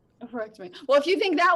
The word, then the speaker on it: oophorectomy: Abby gave me some medical terms to pronounce. One is oophorectomy, which is removal of an ovary.